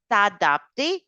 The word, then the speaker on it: s'adapter: And it's not adapter, it's not attaché. Okay, we always open the mouth. S'adapter, s'attacher. So a is the pronunciation.